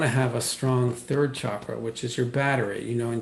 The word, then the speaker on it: chakra: familiar, by the way, I say chakra because that's more of the Sanskrit sound, and most Americans say chakra, which is totally fine, but I just say chakra.